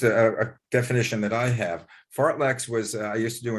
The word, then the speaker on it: fartlek: what the swedes call and courtney help me pronounce this fartleks i know is that what it is yeah